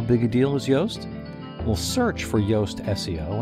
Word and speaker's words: Yoast: It's almost the English pronunciation of his name, nickname. Yoast, Y-O-A-S-T, is a big deal.